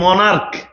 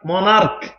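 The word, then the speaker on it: monarch: অনেক একবার এসছে এ মনার্ক মনার্ক মনার্ক সিএইচ এর উচ্চারণ যদি তুমি কখনো দেখো ক এর মত হয়ে সিএচ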